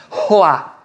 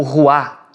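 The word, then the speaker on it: רוח: Esse soprar é roá, ou ruá, um termo mais tradicional, mas a pronúncia é roá.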